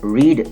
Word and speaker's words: read: hurt hurt hit hit the spelling of the verb read does not change but its pronunciation changes changes from long e to short e some irregular verbs